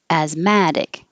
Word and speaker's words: asthmatic: all it's just asthma asthmatic the adjective the stress moves to the mad as mad asthmatic but both of them the air vowel is a as mad look we have a